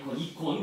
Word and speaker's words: 이콘: 이콘, 그죠? 이콘은 이제 그쪽 발음으로 이콘이라.